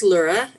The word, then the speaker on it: Laura: So whenever you are ready, Laura. Can you hear me? Yes. Hello, everyone. My name is Laura, pronounced Lura, L-U-R-A.